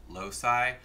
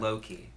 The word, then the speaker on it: loci: whole new collection called genius low C loci low sigh apparently all pronunciations are acceptable oh good I've been saying low key whatever good whatever anyway